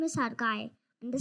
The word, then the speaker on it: Arkaya: My name is Arkaya and the spelling is a r k a y a. People often pronounce it wrongly. It's in Sanskrit.